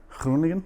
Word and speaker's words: Groningen: If I'm pronouncing that right. I loved it. How do you say what province? Oof. What did you say? Where did you work? Groningen. Yeah, now you're doing it right.